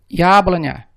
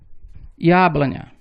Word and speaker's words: Яблоня: Ya inicia uma palavra e é a sílaba tônica, então ela terá o som de duas letras. Яблоня. A letra O, ela está em uma sílaba átona, então ela terá som de A.